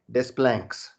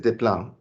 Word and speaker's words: Desplanques: french point of view d e s is actually pronounced day and q-u-e-s is actually pronounced k and so the this is just diplom and that is the